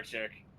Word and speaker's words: Wodarczyk: Wodarczyk. That's when you have CZYK. That's you pronounce it like chick. That's Polish. Well, Stefan Wodarczyk would not go win Ah!